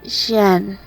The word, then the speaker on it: Jian: jen i answered hesitantly brogan butchered the pronunciation it's jen i corrected part of me wondered